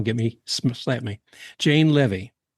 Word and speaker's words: Leavy: sure I get if I get your last name wrong, get me slap me. Jane Lvy, you got it right.